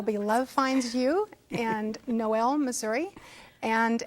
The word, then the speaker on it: Noel: love finds you and noel missouri and actually the town's name is pronounced null just as this one is not pronounced humble it's pronounced humble that one's pronounced null but it's also can